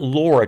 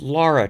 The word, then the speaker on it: Lara: laura with a u it is not laura trump it is lara trump l-a-r-a that is a pathetic